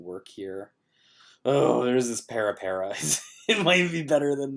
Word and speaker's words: Pirpara: So, I guess Pirpara, that's what it's pronounced. I always say Pirpara just because I don't read correctly.